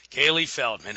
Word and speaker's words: Caileigh Feldman: it's pronounced Kaye Kaye Kaylee Feldman okay great to be talking to you uh